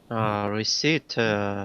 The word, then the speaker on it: receipt: Receipt, silent P.